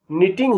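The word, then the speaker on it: knitting: को निटिंग में के और दूसरी टी का उच्चारण नहीं है बोलने में निटिंग ही आया इसी प्रकार पी एस ए एल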